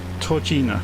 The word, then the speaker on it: Tužina: Tužina is the correct pronunciation for the next one.